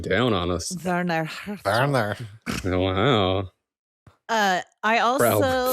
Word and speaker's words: Werner Herzog: And he is that the Werner Herzog documentary?